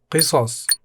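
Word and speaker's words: قصص: Qisas. Qisas means stories, pronounced qisas.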